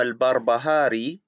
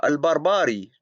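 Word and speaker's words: البربهاري: He calls Imam al-Barbahari, after calling him a great Imam, he calls him al-Barbari twice.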